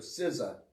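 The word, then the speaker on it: SZA: Siza scissora scissor scissor.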